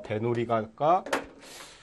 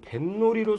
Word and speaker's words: 뱃놀이: 그러니까 배 플러스 놀이가 합해졌을 때 소리가 배놀이가 발음 안 납니다. 배놀이가? 배놀이? 글쎄 배놀이는 글쎄요. 배를 드러내고 노는 놀이는 몰라도 배 타고 노는 놀이는 배놀이라고 않죠. 그러니까 이거 뱃놀이로 소리가 나네.